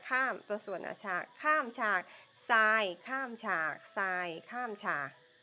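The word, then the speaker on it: sine: ตอน แรก เลย คือ S I N E อ่าน ว่า ทราย นัก เรียน นะ เพราะ ว่า จริง ๆ แล้ว ชื่อ เต็ม มัน คือ อืม อี ตัว อี ด้วย ค่ะ ไม่ ได้ ไม่ ได้ อ่าน ว่า สิ้น นะ อ่าน ว่า ทราย นะ คะ ไซน์ ของ มุม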